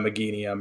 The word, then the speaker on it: Meganium: anything like the Illumina Meganium or Meganium. I can never pronounce that Pokemon's name. I think Meganium's right. Meganium.